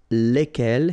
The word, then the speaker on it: lesquels: And the good news is that phonetically, it's lesquels here for the masculine form and then lesquels for the feminine form, all right? So phonetically, it's exactly the same when we talk about the plural form here, but then if